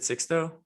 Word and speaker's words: Sixto: six though, yeah, Oh, is it Sixto? yeah, six though, It's pronounced with X. yeah, six though. Wow. It's That's yeah. interesting. That's cool as hell. Sixto. If my Spanish is correct, it's like 60th. I think it's the 6th, excuse me.